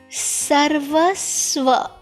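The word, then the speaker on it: सर्वस्व: Sarvasva. I repeat. Sarva. When you have this half, this is called half ra. Okay. So this ra is not visible in between. Yes. So it is sarvasva.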